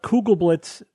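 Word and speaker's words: Kugelblitz: right thanks Evan yep Bob tell us about cougal Blitz black holes did I pronounce that correctly yes an exotic but theoretical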